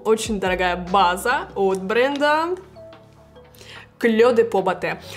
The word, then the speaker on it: Clé de Peau Beauté: И да, кстати, правильно говорить Clé de Peau Beauté. Я читала в комментариях, люди спрашивали, почему Clé de Peau Beauté. Потому что как бы название идет на французском, но бренд при этом японский.